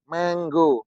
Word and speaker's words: mango: menggo menggo menggo menganggo menggo menggo beda kan ditulis Mango diucapkan menggo sehingga antara tulisan dan pengucapannya berbeda Nah kalau kita enggak mempelajari